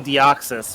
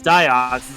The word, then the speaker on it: Deoxys: Furret, for whatever reason, could not pronounce Deoxys properly, so he kept telling me it was Deoxys. I'm like, no, it's There's Deoxys. no I in his name. Yeah. How do you get Deoxys from that? There's no I in it anywhere.